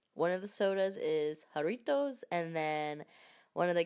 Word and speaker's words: Jarritos: get it straight one of the sodas is Jarritos and then one of the candies I was